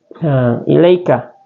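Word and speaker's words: إِلَيْكَ: Sebab huruf ya sukun setelah fathah, ya, huruf ya sukun setelah fathah. Jadi bacanya ilaika, ilaika, ilaika, ya, bukan ilaika, bukan ilaika ya, ilaika. Nah, begitu ya cara bacanya.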